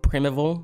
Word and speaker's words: Primeval: definitely pronounced that wrong so like prime with valeton it's like prim evil I don't know if that's a real word but like it's hard